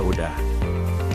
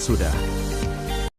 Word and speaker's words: sudah: Penjelasannya, yaitu kesalahan terjadi karena adanya penghilangan bunyi huruf S di awal kata udah. Bentuk yang benar sesuai kaidah bahasa Indonesia adalah sudah.